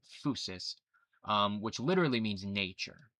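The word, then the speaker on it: φύσις: uh actually it comes from the Greek word fouseus phys it's pronounced fousis um which literally means nature right so physics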